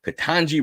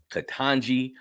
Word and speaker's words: Ketanji: Ketanji Brown Jackson.